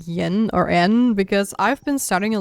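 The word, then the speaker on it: 円: And I had no idea that they actually say n and not yen. So whenever I see it now, I I I say n. And yeah, basically it's like 100 yen are haku in the Y is silent that you could even like debate if the E is also silent.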